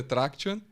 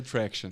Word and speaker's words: Tractian: No português é Traction. Tá, Traction. E no inglês é Traction.